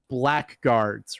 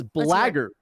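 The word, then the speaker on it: blackguard: It sounds the the word that I've always I've always mispronounced and apparently everyone else has their entire lives. I always loved black guards, right?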